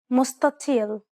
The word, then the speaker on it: مستطيل: This is why the first consonant is pronounced dark instead of what is written. We talked about this in the previous lesson. Try it one last time. مستطيل.